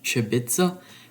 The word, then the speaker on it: Sibice: problem excuse my pronunciation i think it's pronounced shibitsa which is croatian for matches so anyway let's get